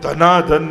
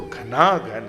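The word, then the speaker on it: घनाघन: अभिषक बोलो ना तो शुद्ध शुद्ध उच्चारण घना घन निभ कई लोग धना धन निभ कते अब धना धन बोलो फ धना धन होगा तो घना घन है जैसे काले बादल होते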